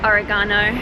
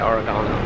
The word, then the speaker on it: oregano: Oregano and oregano. Yeah, you guys say oregano.